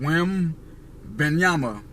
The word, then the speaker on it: Wembanyama: Wembanyama. Victor Wembanyama.